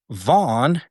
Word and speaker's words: Vaughan: And the deputy district attorney that dismissed the criminal investigation, is named Andrew Vaughn, and it's spelled Vaughan, not just GHN.